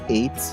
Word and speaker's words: ate: or minus 1 because the E at the end of the word is silent. It does not make a sound.